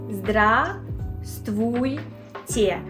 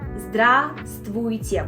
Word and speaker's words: Здравствуйте: Здравствуйте. First of all, V is silent. Здравствуйте. We don't pronounce this V. Здравствуйте.